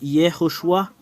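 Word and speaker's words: יְהוֹשֻׁעַ: Alors, le fait de prononcer ce terme, c'est Yehoshua.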